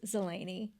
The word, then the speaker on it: Zelazny: So it looks like Zelazny. I have a lot of different pronunciations that I get, but it is Zelazny.